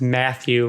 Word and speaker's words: Mathieu: So next we have Jacob Mathieu, Mathieu is Matthew, right? Matthew, yes.